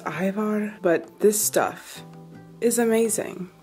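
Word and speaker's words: Ajvar: in my last video I think it's pronounced Ivar but this stuff is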